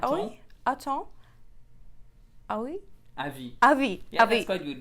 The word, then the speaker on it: avis: avis, Yeah, avis. that's quite good because you don't pronounce the S, the final S.